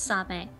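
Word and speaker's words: サメ: The Japanese word for shark is same. Spelled like the word same, but pronounced same.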